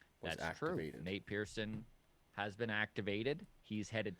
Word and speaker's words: Nate Pearson: the alternate site recently his name rhymes with pate niersen nate pearson has been activated he's